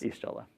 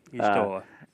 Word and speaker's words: Y'shtola: And then our fourth deck, we have Final Fantasy XIV, featuring, I do not know how to pronounce this. Y'shtola. Thank you. Y'shtola.